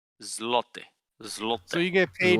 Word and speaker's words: złoty: The Polish currency is the Polish zloty. Yeah, it's like golden. How do I pronounce that? Zloty? Złoty.